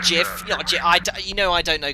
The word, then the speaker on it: GIF: know I always get my chips emojis gif pronounced jiff is a better sort of cleaner that we